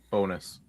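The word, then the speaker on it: Bowness: Bonus. All right. Bonus. Okay. Oh, good. Listen, I looked at the pronunciation.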